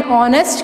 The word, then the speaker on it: honest: रहा है, जैसे कि एन आवर, एन ऑनेस्ट, क्योंकि इसमें एच जो है वो साइलेंट है, इसलिए इनके आगे क्या लगेंगे, एन लगेंगे, ठीक है।